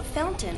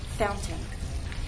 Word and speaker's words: fountain: barefoot boy you know fountain is one of those words in English that has two pronunciations the standard pronunciation is fountain with the truth tea fountain the other pronunciation is what you'll hear in fact speech fountain this is more typical